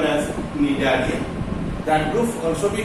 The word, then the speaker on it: Cnidaria: You see, the Coelotrata, otherwise called as Cnidaria. Cnidaria. It is otherwise named as Cnidaria. C is silent.